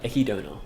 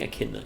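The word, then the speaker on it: Echidna: Akidna or Ekidona, but uh I think I think Akidna is a more correct pronunciation. Ekidona is more of the um romanization or whatever.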